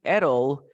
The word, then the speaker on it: it'll: We say ettle. Okay. Ettle. Yes, ettle. For example, we have it'll be fine.